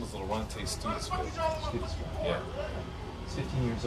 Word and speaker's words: Laronte: And your son's name, let me get a correct pronunciation on it. His name is Laronte Stevenson.